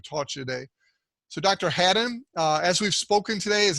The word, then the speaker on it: Hadden: David Hadden, it's like had, just like it's spelled, Chuck. Come on, Hadden.